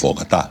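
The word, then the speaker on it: Bogotá: That is how you pronounce it. Bogota. there's an accent. There's an accent. It's very on clear. the A.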